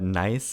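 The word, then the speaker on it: gneiss: Uh, so uh nice is a metamorphic rock.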